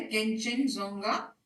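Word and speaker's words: Kangchenjunga: इसको कंचनजंगा भी कहते हैं, खान केंचनजोंगा भी कहते हैं, बहुत मुश्किल लगता है प्रोनाउंसिएशन, तो जो आपको प्रेफरेबल हो वो कहिए। मैं यूजुअली इसको केंचनजोंगा कहती हूँ या कंचनजंगा कहती हूँ।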